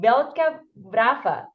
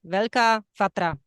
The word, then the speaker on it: Veľká Fatra: Velká Vrafa. Sorry, Monica, could you help me with the pronunciation, the correct pronunciation of the national park? Yes, it is National Park Veľká Fatra.